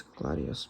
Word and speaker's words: gladius: I don't really know how to say it in Latin or pronounce it, but I think it's gladius, but yeah, the Roman sword, the famous Roman sword.